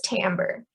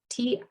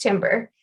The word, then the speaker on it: timbre: weird after that so there's timbre t-i-m-b-r-e sometimes mispronounced timber timbre is about resonance or